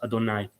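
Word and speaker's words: יהוה: He says Yod Hei Vav Hei, right, pronounced Adonai.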